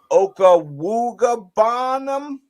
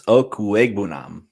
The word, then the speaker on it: Okwuegbunam: Is it Albert Okawugabanam? Is that right? It's Okwuegbunam. Ekwegbunam. Okay. All right. I was trying to pronounce it.